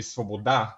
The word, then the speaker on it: svoboda: Bulgarian, it would be svoboda, which the stress lands on the last syllable.